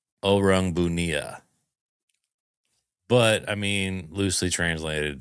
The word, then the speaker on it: Orang Bunian: Kyle's coming in hot, bringing his orange bunions. Orange bunions. The orange bunions, baby. Actually, it's pronounced oang bunia, but I mean loosely translated to orange bunion.